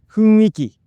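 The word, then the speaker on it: 雰囲気: But when I said this word, I accidentally said “Fuinki” instead. The correct pronunciation is “F-u-n-i-k-i,”not“F-u-i-n-k-i.” "i" and "n" I switched these sounds, and it was really embarrassing. “F-u-n-i-k-i”...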